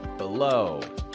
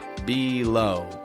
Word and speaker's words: below: Words about placement of things like before, behind, below. Don't pronounce the E in the beginning. I don't say it like before, behind, below, but before, behind, below.